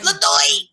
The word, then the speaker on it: LeDoux: LeDoux. I'm I sorry. think That was up until today. It was probably LeDoux. Yeah, no, you say it like this. LeDoux, like that. It is LeDoux or LeDoux.